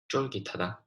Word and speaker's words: 쫄깃하다: So in Korea, if you want to say something is chewy, you would say 쫄깃하다. There's a bit of accent at the start. 쫄깃하다. And next we have 아삭아삭하다.